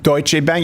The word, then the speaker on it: Deutsche Bank: the free market anymore how did you pronounce that Deutsch a Deutsche Bank you do it all properly Chancellor I do with